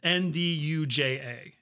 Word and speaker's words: nduja: Just think of it actually comes from the same origin word as the word we use for andouille.